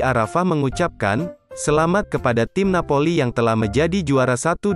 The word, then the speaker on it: Napoli: Società Sportiva Calcio Napoli, umumnya hanya disebut Napoli, diucapkan Napoli, adalah sebuah klub sepak bola Italia yang bermarkas di kota Napoli, Campania.